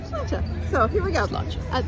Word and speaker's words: sláinte: Sláinte? Is that how you say it? Did I say it wrong? No, you said it right. Did I say it right? Sláinte.